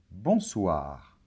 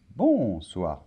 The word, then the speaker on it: bonsoir: et le r finale bonsoir très bien accents toniques et toujours à la fin des mots en français donc c'est pas bon soir non bonsoir dac bonjour très bien